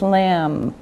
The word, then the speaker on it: lamb: meat this is the general group beef beef lamb lamb now remember the bee is silent no sound just lamb okay chicken chicken fish fish potatoes potatoes rice